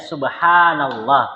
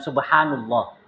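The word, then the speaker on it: سبحان الله: Ya, subhanallah, bukan subhanullah. Antum bacanya tasbih subhanallah.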